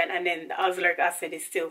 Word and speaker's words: azelaic: So the one before that I have was tretinoin 0.015%, and then 4% niacinamide, and then azelaic. That's how you pronounce it.